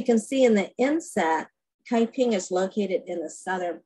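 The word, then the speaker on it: 开平: Ah Quin was born December 5th, 1848 in southern China, in a city that is pronounced Kaiping in Mandarin and Huiping in Cantonese.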